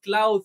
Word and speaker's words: Claude: Eso pues no va a entrar en detalles de eso, pero la IA de Jeff Bezos y de Amazon se llama Cloud, se escribe Claude, ahorita la vamos a ver.